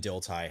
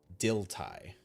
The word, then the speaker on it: Dilthey: German philosopher's name and in German his name is pronounced Dilthey. I'm not German. I don't speak German. I did look it up because yes, it in English it looks like Dilthey, right?